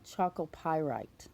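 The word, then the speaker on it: chalcopyrite: Once I looked it up, it looks like it's let's see if I can say this right, chalcoprite. Chalcoprite. Oh, chocopyrite. That's how you say it.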